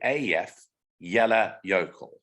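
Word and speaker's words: Eyjafjallajökull: pronounced phonetically it's easy so this is actually pronounced a yeah af sorry af yellow yokel so the j is yeah in in iceland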